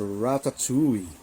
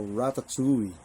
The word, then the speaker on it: ratatouille: Ni-research ko ang pronunciation, it's ratatouille.